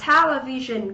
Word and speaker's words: television: Tiếp theo ở đáp án C chúng ta có giáo đây là một danh từ trọng âm giám tiết thứ nhất, đọc là television có nghĩa là cái TV.